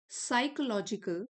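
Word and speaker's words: psychological: This state of साइकोलॉजिकल P silent है।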